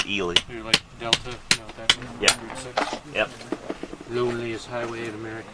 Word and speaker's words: Ely: Ely Nevada all right even though it's spelled like Eli it's it's eely yep loneliest Highway in